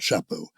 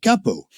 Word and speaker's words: chapeau: asked for, and he didn't know how to pronounce the word chapeau, and so he pronounced it capo.